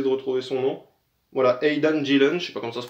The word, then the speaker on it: Aidan Gillen: mec qui s'appelle alors comment il s'appelle c'est hayden guilhem quelque chose comme ça j'essaie de retrouver son nom voilà aidan gillen pas comme ça se prononce aidan rapide et